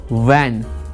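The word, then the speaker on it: van: बैन नहीं होता, बैन मतलब बंदी होता है या किसी चीज़ पे पाबंदी लगा देना। वैन मतलब होता है गाड़ी, वैन वैन वैन।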